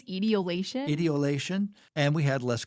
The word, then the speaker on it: etiolation: Atoliation? Oh, etiolation. Yeah.